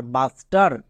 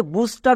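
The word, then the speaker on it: buster: টি ই আর টার বাস স্টার একে অনেকে ভুল করে বুস্টার উচ্চারণ করে কিন্তু বুস্টার উচ্চারণ হবে না চলো কয়েকটি হোমওয়ার্ক দিয়ে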